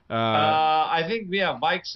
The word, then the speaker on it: VIX: Vikes, is that how you pronounce that? Vikes is the right Vikes.